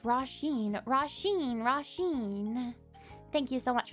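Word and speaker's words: Róisín: Roshin's an Irish name pronounced Roshin.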